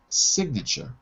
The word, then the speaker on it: signature: the k is pronounced signature we've changed the part of speech from a from a verb to sign silent g to a noun signature noun so when it changes part of speech the g is no longer silent so i can't give